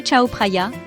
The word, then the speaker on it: Chao Phraya: Prononcé Chao Phraya, ce fleuve nourricier de Bangkok serpente à travers la ville, offrant une captivante tapisserie d'héritage culturel et de merveilles modernes.